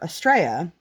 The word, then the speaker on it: estrella: it and so we decided to name her estrella which is stars in spanish and hopefully i have been pronouncing that correctly i think i have um